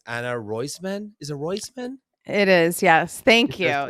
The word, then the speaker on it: Roisman: so funny Anna it's Anna royman is it royman it is yes thank you you nailed it